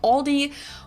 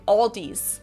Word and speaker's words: Aldi: Say Aldi, or they also sometimes add an S that isn't there in the end. See, that's what I'm talking about. And say Aldi's. In Germany, we just say Aldi.